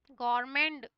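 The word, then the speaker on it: government: में क्या होता है इसमें टी साइलेंट है बच्चों है ना इसमें टी नहीं बोला जाता यह ग मेंे है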